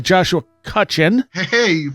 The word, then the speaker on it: Cutchin: go and I have uh looks like Joshua kutchen heyy you pronounced my name right first time like five